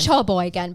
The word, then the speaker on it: Sheboygan: Sheboygan, but it's still pronounced Sheboygan.